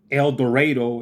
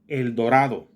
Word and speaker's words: El Dorado: not Colorado it's Colorado it's not El Dorado it's El Dorado I'm people trying to